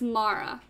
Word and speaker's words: Mara: you pronounce my name it's mara mar i can't trim my r's otherwise i would try all right please please